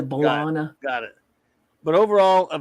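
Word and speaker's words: B'Elanna: of the fact that they changed how they pronounce belong his name it starts as balana and then eventually grows into bolana got it but overall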